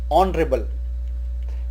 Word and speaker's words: honorable: This is not called honorable, but it is spoken in English as honorable, and so we use an honorable person.